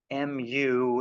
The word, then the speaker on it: mu: mu lower case Greek mu it's pronounced mu um another one that